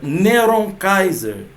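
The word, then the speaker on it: נרון קסר: Cesa o nome Nero Cesa em hebraico se pronuncia neuron Kaiser o cálculo de cada letra no nome de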